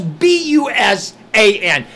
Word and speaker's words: Busan: Okay, it spells B-U-S-A-N. Now English already sucks because there's so many rule variations. Exception to the rule. Okay, it's B-U-S-A-N. So I'm going to pronounce it Busan.